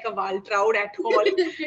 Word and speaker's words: Waltraud: It's called Waltraud. Yeah, So Waltraud. Waltraud, it's a very unusual German name. It's very harsh. It does. I don't look like a Waltraud at all.